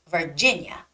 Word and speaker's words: Virginia: reading the word Virginia the stress goes on the second eye Virginia okay so reading English